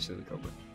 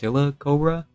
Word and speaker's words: Silicobra: silicober no it's a silly cover it's probably pronounced silicobra like silicone question mark I prefer to